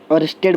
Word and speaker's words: Oersted: देखो इसको बोलते हैं ऑर्स्टेड बोलते हैं, बहुत लोग अर्सड बोलते हैं, तो जैसा आप प्रोनाउंसिएट कर लें आपके ऊपर है, ठीक है।